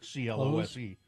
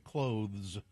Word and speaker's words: clothes: I always said clothes, like CLOSE, clothes. But you're supposed to say clothes.